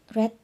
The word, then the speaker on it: read: first verb read the same spelling different pronunciation read red red so the food must